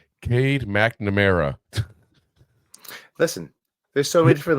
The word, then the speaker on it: Cade McNamara: Wasn't sure whether to start McCarthy or Clade McNorma at quarterback. Who taught you how to read names? Cade McNamara.